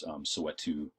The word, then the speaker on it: Soweto: It has been embraced, and often it's pronounced with a kind of African lilt to it, Soweto, and all of that.